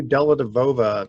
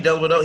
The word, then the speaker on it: Dellavedova: Where did Matthew Dellavedova? I think that's how you pronounce his name.